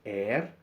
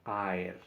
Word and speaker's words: aer: No se dice er, sino aer.